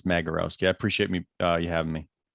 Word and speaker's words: Magierowski: It's Magierowski, hard G. Oh, a lot that's of people easy. say Madge, but it's Magierowski.